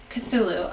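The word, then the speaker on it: Cthulhu: and C Kulu oh do you mean like cthulu maybe I'm pronouncing it wrong is it pronounced cthulu cthulu okay good uh I dare Kaye to chug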